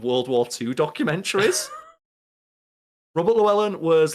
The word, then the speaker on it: Llewellyn: I see it um written out I'll be pronounce it there we go so it's Robert Llewellyn he plays Kryton he was also on [